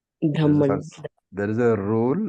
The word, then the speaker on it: Brahma: Like you write Brahma. Then you you write the ha and then you write the ma. But in pronunciation you put the m first. So, Brahma.